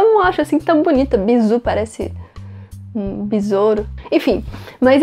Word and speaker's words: bisou: beijo pode também ah ser chamado de bizu bizu é essa pronúncia mesmo não eu não acho assim tão bonita bizu parece um bisouro enfim mas é assim que